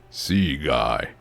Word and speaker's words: Seagay: Pronounce it very painstakingly. Sea guy. Oh, it's sea guy.